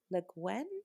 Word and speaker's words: Le Guin: don't know how to say her last name, Le Guin, maybe. Le Guin, yeah.